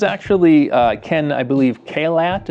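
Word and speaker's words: Caillat: Kat is how you say it. Kat.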